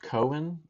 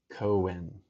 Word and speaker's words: Cohen: Pronounced Cohen. Oh, okay. I apologize. I gave it a hard K. Cohen.